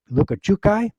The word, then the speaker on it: Lukachukai: church there, he also has a mission in Lukachukai. In order to go on the mission, you have to learn how to pronounce that word, Lukachukai.